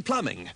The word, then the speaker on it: plumbing: like the one in plumbing that's a really annoying one fancy spelling something p-l-u-m-b-i-n-g and pronounce it plumbing that's really dumb and now back to